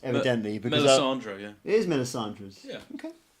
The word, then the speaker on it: Melisandre's: I'm pretty shit at pronouncing band names, evidently. Melisandre, yeah. It is Melisandre's.